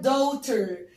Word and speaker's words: daughter: no، بقول عليها daughter. daughter. d a u g h t e r. الجي والاتش مش بتتنطق.